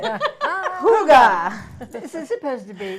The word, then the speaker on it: hygge: next thing because I Hooga. forget. Hooga. Hooga. It's not spelled that way, Hooga, just in no, case it's anybody spelled wants to know. H-Y. That's why I couldn't say it. Hooga.